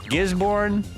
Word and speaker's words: Gisborne: Gisborne. I'll pronounce it that way.